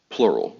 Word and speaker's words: Plurawl: Plurawl. The W is silent, but that don't mean you have to be.